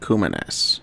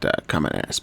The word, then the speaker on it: Kumanes: Well, first of all, it's pronounced Kumanes, not Kamenas.